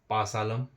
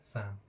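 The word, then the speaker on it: psalm: में तो यह होगा पासालम पसलम कुछ भी इसको पढ़ते हैं लेकिन इसमें हमारा पी भी साइलेंट होता है इसमें हमारा एल भी साइलेंट होता है ये इसको हम पढ़ते हैं साम ठीक है क्या पढ़ते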